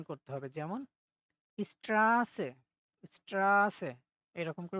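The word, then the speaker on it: Straße: সময় একটু দীর্ঘায়িত করে উচ্চারণ করতে হবে যেমন স্ট্রাসে স্ট্রাসে এরকম করে উচ্চারণ করতে হবে স্ট্রাসে মানে হচ্ছে রাস্তা ওকে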